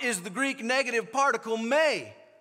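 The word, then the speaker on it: μή: the Greek negative particle may spelled m-e but pronounced May whenever that particle that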